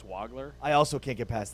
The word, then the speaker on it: Wagler: It's not Wagler, that it's Wagler.